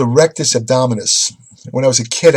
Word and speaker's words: rectus abdominis: only one-third of the abdominal musculature it's called rectus abdominis when I was a kid I mispronounced it in a gym I went up